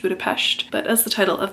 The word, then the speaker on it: Budapest: Hungarian way that being when there is a singular s in a word it makes a sh sound hence why Budapest is actually supposed to be pronounced budapes but as the title